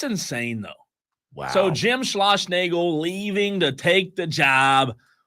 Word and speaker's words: Schlossnagle: Schlossnagle. What a freaking It's pronounced BSer.